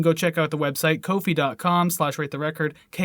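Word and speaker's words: Ko-fi: kofi anyways they uh that's how they say a cup of coffee but anyways it's pronounced kofi and basically what kofi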